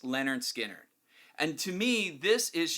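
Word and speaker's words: Lynyrd Skynyrd: but I picked out Leonard skinnard pronounced Leonard skinnard and to me this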